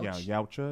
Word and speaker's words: Yautja: Yeah, Yautja is the way the you pronounce it.